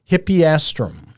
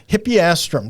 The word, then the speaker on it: Hippeastrum: and you can test me on this, Stacy, Hippeastrum. Excellent work. Thank you. I've got it phonetically spelled out here, but Hippeastrum.